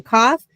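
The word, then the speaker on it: כ: Okay, the kaf looks like a K, sounds like a K.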